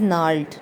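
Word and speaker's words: gnarled: आ नाल्ड, this word we pronounce as नाल्ड, नाल्ड mean बल दिया हुआ.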